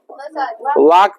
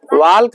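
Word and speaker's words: walk: पढ़ेंगे यस सर नहीं वाक पढ़ेंगे इसको वाल्क नहीं पढ़े ल्क नहीं पढ़ते हैं टॉक पढ़ते हैं वाल्क नहीं पढ़ते हैं वाक पढ़ते कुड नहीं पढ़ते हैं कुड पढ़ते हैं L silent L will be silent ब भाग नहीं पढ़ेंगे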